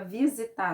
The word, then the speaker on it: visitar: Se eu falar a palavra visitar normal, aonde foi que a sílaba que eu falei ela é um pouco mais forte? É no tar. Então, o tar é a sílaba tônica da palavra visitar.